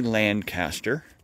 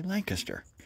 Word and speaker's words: Lancaster: which of course, yes, we pronounce it just like the English. We don't say Lancaster, like an American would. No, we say Lancaster, because it was named